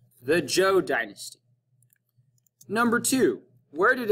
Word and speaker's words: Zhou: is the zhou dynasty while it's spelled with the z it's pronounced like the name joe the joe dynasty number two where